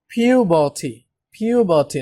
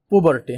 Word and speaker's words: puberty: এই উচ্চারণটা নিয়ে একটু বলবো, এটা আসলে পিউবার্টি, নট পুবার্টি, হ্যাঁ, পিউবার্টি, ঠিক আছে?